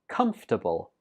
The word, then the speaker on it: comfortable: is a similar problem this word also has a silent syllable we pronounce this word as comfortable how many syllables right only three comfortable comfortable my new